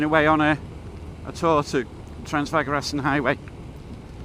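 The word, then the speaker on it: Transfăgărășan: Now, all of this is associated with having been away on a tour to Transfagarassen Highway. And I know it's pronounced Transfagarassen. So just an idea of what it costs.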